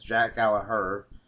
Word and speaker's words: Gallagher: in a 5 screwed up his name I apologize jack alejar the G is silent vs neville for the